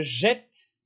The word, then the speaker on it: jette: bien ouvert l appel pareil avec jeter je jette ouvert tu jettes il jette